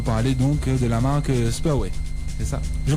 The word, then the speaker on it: Spurway: tu viens nous parler donc de la marque Spaway. C'est ça? Je prononce bien? Exactement. Spaway.